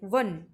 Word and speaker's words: one: তো ওয়ান যখন আমরা উচ্চারণ করি তখন ডাব্লিউ দিয়ে স্টার্ট হয়, ওয়ান, তাই জন্য W consonant, option B ইজ the correct answer, ওয়ান night person.